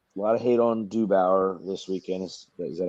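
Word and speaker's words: DeBoer: But don't forget, a lot of hate on Dubauer this weekend. Is that how you pronounce his name? DeBauer.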